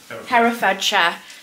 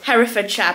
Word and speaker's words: Herefordshire: Herefordshire. So I'm very sorry. I'm very bad at pronunciation anyway, but that one's quite bad. Herefordshire.